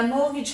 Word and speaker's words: mortgage: at the end now mortgage has a silent t in the middle of it you've got